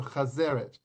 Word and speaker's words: chazeret: Right, chazeret, pronounced chazeret, carries the same symbolism as maro.